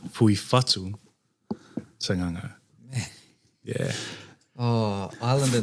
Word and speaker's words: Fatu: So to answer Marshall's question, it's Fui Fatu Sanganga. Yeah. Oh, Islander names are so Oh, it's crazy. Yeah. Fatu's not like the Māori Fatu, WHATU. No, It's the F-A-T. FATU.